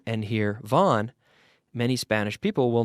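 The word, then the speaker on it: Vaughan: n and they hear Vaughn like vo n that's how we pronounce it in English Vaughn but if they if they see VA ugh N and here Vaughn many Spanish people will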